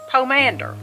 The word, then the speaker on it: pomander: Pomander, like commander, but Pomander. pomander.